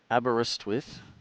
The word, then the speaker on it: Aberystwyth: It's actually Aberystwyth, and I remember it now by saying, have a rest with.